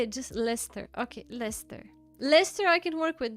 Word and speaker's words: Leicester: Why am I pronouncing it Leester?